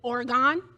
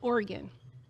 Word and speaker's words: Oregon: They said Oregon. I said, "We pronounce it Oregon."